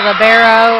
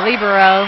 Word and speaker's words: libero: what their role is she's called the libero or some people call him the libero it can be pronounced either way and she has unlimited